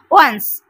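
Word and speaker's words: once: দেখো, সিই আলাদা করে আর উচ্চারণ হয় না, সেই জন্য আমরা এইটাকে কিন্তু পুরোটা একবারে উচ্চারণ করব। ওয়ান্স, ও এন সিই, ওয়ান্স।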